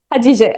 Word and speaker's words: Hatice: Hatice. Hadija. Okay. Hatice. Hadija. All right. It's like Turkish.